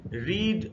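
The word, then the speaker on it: read: कई पांचो फॉर्म से रीड रेड रेड ये देखिए बड़ा इंटरेस्टिंग है स्पेलिंग से है लेकिन सेकंड और थर्ड फॉर्म में प्रनंसीएशन चेंज हो जाता है तो रीड रेड रेड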